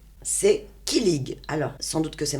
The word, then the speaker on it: kilig: C'est kilig. Alors, sans doute que c'est mal prononcé.